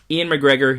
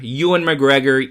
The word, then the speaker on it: Ewan McGregor: say as a kid even though i know ewan is probably the proper pronunciation and probably if i